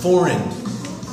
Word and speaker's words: foreign: Yeah, the G makes no sound there. I can see how that would be tricky if you are reading that. The G makes no sound at all.